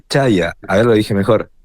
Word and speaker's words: Chaya: Puede ser Chaya, también en realidad en árabe es Shaya, ¿no? Es más Chaya que Chaya. Chaya es mejor, es esa Y, se pronuncia como si fuera una I normal.